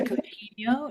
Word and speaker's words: Coutinho: so well here um is it Coutinho or Coutino or something different. It's actually Cotinho. It's It's It's Cotinho.